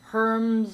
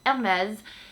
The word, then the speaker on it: Hermès: my videos is a French friend Hermes or Herms or Hermes her herbs I don't know there's lots of different ways that people pronounce it there is no wrong way but